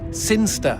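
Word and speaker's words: Sinchester: the boring town of sinchister sin jester sinster what it's pronounced sinister how do you know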